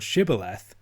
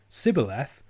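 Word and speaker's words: shibboleth: tested at the forts if they could pronounce the word shibaleth they could cross but if they used a characteristic ephraimite mispronunciation sybileth they were killed the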